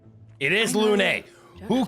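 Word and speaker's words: Lune: Lun? It is Lun.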